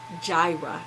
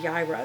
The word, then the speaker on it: Jireh: which is also the name for Yahweh Jehovah Jireh instead of yaira and that is how we pronounce it and what does it mean the